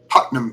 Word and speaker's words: Putnam: Putnham Pa M.